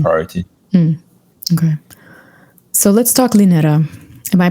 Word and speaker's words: Linera: Okay, so let's talk Linera. Am I pronouncing that correctly? Linera? That's the yes, Linera.